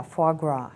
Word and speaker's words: foie gras: told me earlier uh about uh foie gras is that how it's pronounced yeah foie gras yeah yeah what is